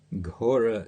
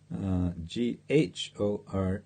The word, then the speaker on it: Ghora: Yeah, Ghora is Ghora. It's not to be confused with Gaura, a name of Lord Chaitanya, Gaura.